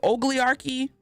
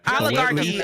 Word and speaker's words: oligarchy: our democracy is borderline an what is it o Archy ugly how do you pronounce it did I say it right oligarchy oligarchy oligarchy oligarchy y'all know what I mean